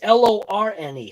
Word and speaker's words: Lorne: Is it Lorne or is it Lome? I actually literally cannot read that. It's Lorne.